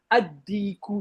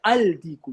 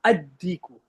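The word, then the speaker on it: الديك: For example, At-Tajiru, Al-Thawbu, Ad-Diku. You don't say Al-Diku. You say Ad-Diku.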